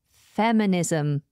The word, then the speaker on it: feminism: noun and it is feminism feminism this is spelled f e m i n i m feminism notice how that s becomes a zed sound Z feminism feminism feminism